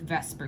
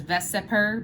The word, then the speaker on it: VSEPR: focus on with with vesper theory okay so first of all this is pronounced i know it says veseper but we call it vesper theory okay i don't